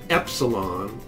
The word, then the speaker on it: epsilon: So instead of calling it E, we call it epsilon, as in the word end, eh.